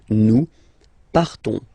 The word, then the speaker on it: nous partons: So classic ending ONS, you don't pronounce the S, you just have this on sound nasal. Nous partons.